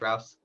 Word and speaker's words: Rouse: is it Rouse? Is that correct? How I pronounce that? is that right? Rouse? Yeah, that's correct. Yeah, that's correct, Rouse.